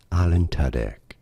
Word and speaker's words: Alan Tudyk: Alan Tudyk.